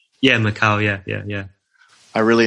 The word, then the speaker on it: Macau: bit of a fascination with quarters yeah the Macau border was very interesting or am I pronouncing that right yeah Macau yeah yeah yeah I really enjoyed that video